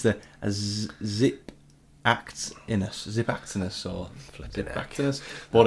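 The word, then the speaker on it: Xiphactinus: zip act in US zip actiness or what it's called the next fish um it's with an X but it's pronounced with like a zed these fish basically eat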